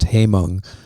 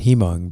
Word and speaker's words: Haemung: My name is actually pronounced Haemung. Oh, it's Haemung. Okay. But I pronounce it Hemung because okay.